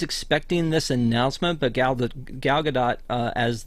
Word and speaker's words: Gadot: of her last name it's not Godot because she's not French and it's not a silent t on the end but um she I